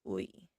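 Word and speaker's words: ㅢ: That one is, I don't know why it's spelled like this, but it is pronounced as ui.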